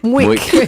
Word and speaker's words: Muik: So that's the way her first daughter pronounced milk. So What's it called? Muik. Muik. Yes, M-U-I-K.